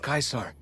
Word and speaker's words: Caesar: He guided us away from Kaisar and showed us how Kaisar would have destroyed us.